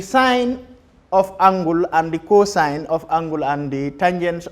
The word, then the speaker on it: cos: also abbreviated as cos c o s but pronounced as cosine tangent is the third one abbreviated as t